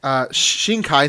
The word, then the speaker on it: Shinkai: same writer Mikoto she she Nakia believe his Shinkai sorry is how you pronounce his name so it's very popular it